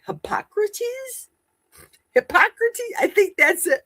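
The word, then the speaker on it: Hippocrates: Not hypocrite. Hypocrates.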